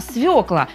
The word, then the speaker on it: свёкла: экономии многим непривычно но все современные словари приводят единственно правильный вариант не светло а свекла но есть у этого